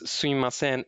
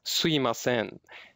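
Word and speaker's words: すみません: It just so happens that some Japanese are pronouncing this phrase sumimasen as suimasen. It may sound same to you, but basically the mi sound becomes I sound.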